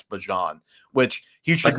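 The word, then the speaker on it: Bijan: Is that what we got all I think he said that we've all been saying his name wrong and it's Bjon which he should not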